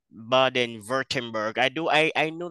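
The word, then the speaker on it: Baden-Württemberg: Germany a place called baden-writtenberg I do I I know that in Germany doublets are pronounced like V so I don't know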